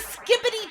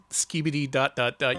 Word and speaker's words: skibidi: She's making the skippity toilet face!